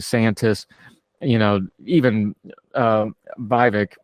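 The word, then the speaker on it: Vivek: you know even uh viik rhymes with fake rhymes with cake you you can tell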